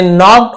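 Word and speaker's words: knock: रुका जाए when they नक् ऑन द डोर नक् के साइलेंट है नक् पढ़ेंगे के एन एक साथ होता है तो के साइलेंट है ना नॉक होता है नो होता है न्यू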